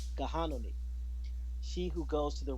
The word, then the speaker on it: Gahanoni: He was the son of a Seneca woman, and her name is pronounced Gahanoni, Gahanoni, she who goes to the river, and a Dutch trader, Johannes John Abel II.